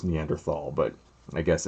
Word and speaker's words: Neanderthal: other neanderthal i guess is how you pronounce it i always thought it's neanderthal but i guess it's you don't pronounce the h but anyway um that